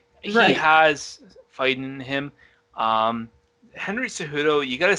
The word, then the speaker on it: Cejudo: he was also accompanied by another fighter Henry Kouhei doe Henry cejudo the who'd oh thank you it's so hard pronouncing everybody's name so he just fought Dominick